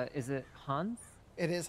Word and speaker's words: Hauns: It's, is it Hauns? It is Hauns. Perfect. I actually pronounced it right, too.